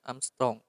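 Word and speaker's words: ångström: Tebal lapisan itu dalam Armstrong itu A, kalau di atasnya ada tanda bulat seperti itu dibacanya Armstrong.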